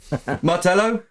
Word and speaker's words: Martello: Martello? Yeah. Yeah, I've pronounced it right.